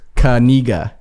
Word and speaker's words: Knigga: I mean, so he did an interview, and it was Kaniga.